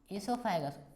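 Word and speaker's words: oesophagus: Then आपका ईसोफेगस आएगा, ईसोफेगस ओ silent है, ठीक है, ईसोफेगस पढ़ा है, प्रोनाउंसिएशन एनाउंसिएशन तुम्हारा सही होना चाहिए, ठीक है।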